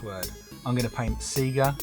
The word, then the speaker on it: Sega: the console turn on the power and figure Sega why would it be pronounced Sega it even says Sega when you